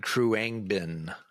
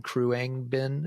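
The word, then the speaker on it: Khruangbin: How about the Texas band Crewbin? I think I'm probably mispronouncing that too. Oh, K HR U N G B I N. Kruang Bin.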